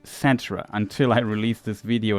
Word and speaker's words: Cetra: For reasons, I always pronounced it Catra in my youth. There was no voice over back in the day, and I never learned that it's pronounced Satra until I released this video in April 2020.